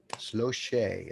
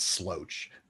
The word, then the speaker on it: Sloche: Sloche is how I'm guessing. I'm pretty sure that's how you say it. It's not sloach.